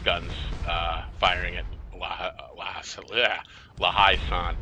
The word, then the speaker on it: La Haye Sainte: 5 guns firing at La Haye Sainte. I always say it wrong. I want to say La Haye Sainte. That's what I want to say, but it's La Haye Sainte.